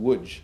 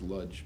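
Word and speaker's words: Łódź: It's pronounced woodj as I thought. Although my father always said it was ludge, but what did he know?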